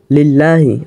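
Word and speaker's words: لِلَّهِ: হলো আর সমস্ত প্রশংসা লিল্লাহি আল্লাহর জন্য আল্লাহ শব্দ আগে লিখেছে এরপরে এই আল্লাহ শব্দের শুরুতে একটা লাম যুক্ত করেছে জের যুক্ত লাম এ কারণে উচ্চারণ হয়েছে লিল্লাহি এই যে আল্লাহ শব্দের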